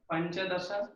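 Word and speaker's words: पञ्चदश: अच्छा, ये अम्मा ये पंच ऐसा उच्चारण हिंदी में होता है। संस्कृत में हम लोग जब उच्चारण करेंगे पंच, ये आकार का उच्चारण स्पष्ट होना चाहिए।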